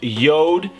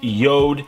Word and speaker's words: Jord: So, this is coming in from Yod. I know it looks like Jord, but it's pronounced Yod.